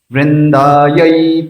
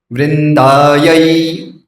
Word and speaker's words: वृंदायै: वृंदायै, वृंदायै, यही कहना है, वृंदा ये नहीं है, वृंदायाय नहीं है, क्योंकि इंग्लिश में क्या